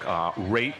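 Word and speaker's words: Wrate: We're talking to Richard Raitt, and just so people know, if you're looking for the book, Raitt is spelled W-R-A-T-E, so the W is silent.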